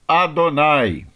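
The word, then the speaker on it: יהוה: A próxima palavra é o tetragrama com o nome sagrado de Deus, Yud He Vav He, que nós pronunciamos como Adonai.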